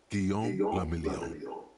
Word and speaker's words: Guillaume Lamillion: Guillaume Lamillion. If it doesn't rhyme, you're not pronouncing it right.